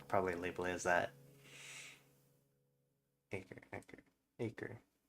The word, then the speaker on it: Acre: Acre. A-C-R-E, acre. Like the land.